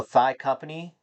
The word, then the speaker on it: ThyCompany: So, Thigh Company spelled like it's like the way it's spelled on YouTube here. T H Y C O M P A N Y. Thigh company.